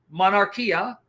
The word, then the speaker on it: monarchia: Trinity particularly the monarchy I call it monarchy but it's pronounced monarchia Manas RK of the